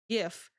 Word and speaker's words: GIF: GIF. Twins. Both same name, different pronunciation. GIF and GIF. Desolation and ranch dressing. It's gif.